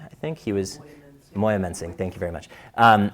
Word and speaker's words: Moyamensing: and he I'm going to mess up the pronunciation but in South Philly it was called Mayo mensing I think he was moyamensing thank you very much um and so he